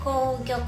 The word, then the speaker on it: 紅玉: と書いて紅玉と読むちょっと小ぶりな真っ赤なりんごです。